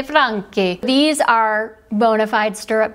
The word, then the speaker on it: Franchi: In Spain, you would say Franchi, but in Italiano, you say Franchi.